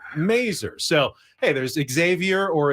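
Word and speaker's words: Masur: There was Andy Mazer, who was the Padres broadcaster, but he didn't pronounce it Major. He pronounced it Mazer.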